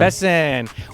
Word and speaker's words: Besson: It's Besson, yeah. Besson.